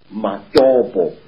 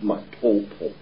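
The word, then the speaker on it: Matobo: place called the mountains of the round rocks mobo wrongly pronounced mopo in in Zimbabwe these Hills are really not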